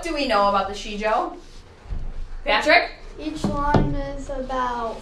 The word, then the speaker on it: Sijo: It's pronounced Sijo.